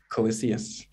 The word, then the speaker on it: Colyseus: of people using call it sorry can you pronounce it called cs coliseus thank you um yeah there's a couple there's